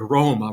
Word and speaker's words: Roma: i struggle with but when you say that word roma right you want to try to roll the r better than i can do but it definitely has that rolled sound to it so when you practice